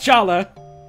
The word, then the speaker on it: Jallar: mistreated too uh anyways this guy's name instead of jalla now is jallar which is pronounced the same way because a lot of the writers were british so it's it's still pronounced jala and things like that